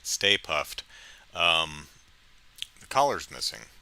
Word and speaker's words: Stay Puft: with the uh uh mini state puffed um stay puft not state puffed stay puft um the collar is